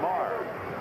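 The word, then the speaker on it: Maher: It looks like Mayer, but he pronounces it Kevin Marr.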